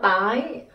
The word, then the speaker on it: tái: you to be able to learn how to pronounce different types of pho in Vietnamese. The first one, it is pho tái.